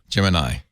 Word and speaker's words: Gemini: what everybody does here's is it gemini or G Gemini according to Wikipedia it's Gemini it comes from the